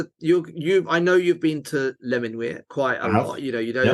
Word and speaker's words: Les Menuires: And talking about pronunciation, I'm pretty sure Les Menuires is the correct pronunciation. I do hear it being called many different things. Les Menuires, it's definitely not that. Les Menuires. I mean, that could be quite nice, but it's a bit Spanish, isn't it? Les Menuires. Les Menuires is how I pronounce it, and I think that's right.